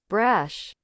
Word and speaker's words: brash: fragile wickless yeah and the pronunciation of this word is Brash so it is brush Brash we notice that brush is a real English word absolutely you have to